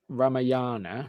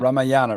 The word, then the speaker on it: Ramayana: this uh is it ramayan is that how you pronounce that series ramayana is it ramayana ramayana um you know